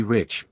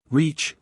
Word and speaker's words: rich: Our English adverbs do not terminate in mong, and we pronounce the ch as if there were a t before it. We say rich. Reach, remarked the foreign gentleman.